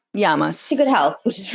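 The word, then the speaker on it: Γειά μας: Yamas. Yamas.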